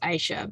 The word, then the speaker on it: Aisha: Isha, do you want to ask your question on camera? Oh, yeah, hi. It's pronounced Aisha, by the Aisha, way.